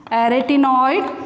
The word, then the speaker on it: arytenoid: How to pronounce? arytenoid cartilage.